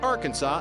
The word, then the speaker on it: Arkansas: The state legislature defined the official pronunciation of Arkansas as having the final SB silent as it would be in friend.